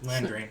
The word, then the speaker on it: Caer Landrin: Well, first we have to get to land to sorry, what's how you say it? Caer Landrin. Westfall? No, the Landrain? land drain. Yeah.